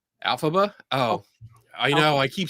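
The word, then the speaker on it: Elphaba: I'm all right for Susan Gerbick is excellent and Kenny is pronounced Alphaba. Alphaba. Oh, I know. I keep saying Alaba.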